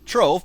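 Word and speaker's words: Trewoofe: Trove, pronounced Trove, thank you, was once the grand house of the powerful and influential Lovelace family.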